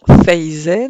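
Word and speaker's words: faisaient: La prononciation faisait nous rappelle que faisait, tout en se prononçant fe, s'écrit bien F-A-I-S-A-I-E-N-T pour la terminaison.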